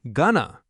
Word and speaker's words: going to: In everyday spoken English, going to almost always becomes gonna. For example, instead of saying, I am going to buy some groceries, we say, I'm gonna buy some groceries. It is not exactly lazy English. It is just natural connected speech.